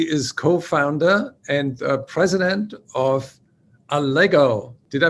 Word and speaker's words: Allego: co-founder and president of a lego did i pronounce this right yes you did it's a lego rhymes with legos what was the meaning